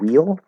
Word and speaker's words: wheel: So wheel can be pronounced like will, only in the contracted. If it's this word wheel, that has to be an L colored E, first vowel sound.